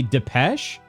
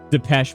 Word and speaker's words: Depeche: Okay, silent E. Pronounced deep pan pizza mode.